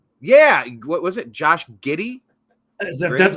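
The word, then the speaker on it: Giddey: basketball player name yeah what was it Josh giddy that's how you pronounce his name yeah it's g d g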